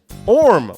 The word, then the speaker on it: Orm: Orm, like spelled like worm without the W.